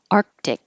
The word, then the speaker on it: Arctic: and the same here Arctic you won't hear any of those C's that sound like K's Arctic unless there's a vowel after it where you can release the K Arctic environment Arctic and